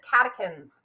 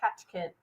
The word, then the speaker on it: catechins: That is black tea, but this one is catechins or catechins. Catechins. I've looked up and studied how to say these words correctly, and then it doesn't help me when it gives me 2 or 3 different versions that are all acceptable.